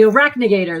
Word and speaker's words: arachnigator: That's right, Argyle, the arachnid spider, the Alice, how do you say that? No, the arachnigator. That's how you call it.